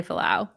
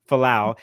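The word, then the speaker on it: Fualaau: Billy Falau. Falau.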